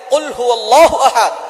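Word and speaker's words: قُلْ هُوَ اللَّهُ أَحَدٌ: আল্লাহ পাক রাব্বুল আলামন এখানে বলছেন কুলহু আল্লাহু আহাদ। এখানে কফ দিয়ে পড়ছেন কিন্তু অনেকেই ভুল করে উচ্চারণ সঠিক না হওয়ার কারণে তারা পড়ে কাফ দিয়ে।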